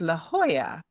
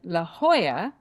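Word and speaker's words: La Jolla: good laugh out of, it's a town called La Hoya. Okay? And that's with a J O L A at the end. So Americans call it La Hoya.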